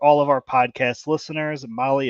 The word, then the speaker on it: Mahle: of our podcast listeners Molly is spelled mahle I know that's right